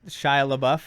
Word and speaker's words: Shia LaBeouf: like his name am I saying it right Shia LaBeouf in the yeah yeah he's like no no